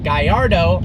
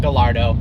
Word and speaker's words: Gallardo: Now, it is pronounced Gallardo because the name is a Spanish fighting bull, even though Lamborghini is an Italian company. Yeah. It is not Gallardo, and it is Superleggera, not Superleggera.